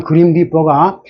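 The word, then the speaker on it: grim reaper: 사자 생생 고 사람 그림 리퍼가 길게 발음해야 돼요 그림리퍼 근데 이게 리 이거는 리 하면 짧은 립 하고는 전혀 발음이 틀린게 미국 영어지만 슬에 이게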